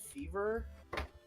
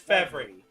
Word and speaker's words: Fevry: No, I don't know how to pronounce it. Fever? Fevry. Fe- It's Fevry.